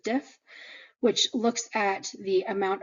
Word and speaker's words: diff: We pronounce diff as a word, so CBC with diff.